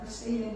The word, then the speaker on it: Verstehen: Bacanya apa? Verstehen ya.